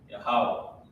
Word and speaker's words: Yahweh: This is how you pronounce it. La Yahweh.